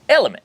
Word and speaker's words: LMNT: Element, pronounced Element, is an electrolyte drink mix and an electrolyte sparkling water.